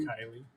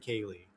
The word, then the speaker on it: Kylie: Kelly in Australia, if you're still up, is it Kylie? Am I saying your name wrong? Kylie. I've been saying Kaye.